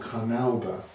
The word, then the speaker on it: carnauba: That's called carnauba. That's how we pronounce it.